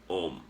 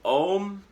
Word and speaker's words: Om: it looks like and the number 30 uh in a numerical system but really it's a universal vibration um om is usually pronounced a-u-m like oh and it's drawn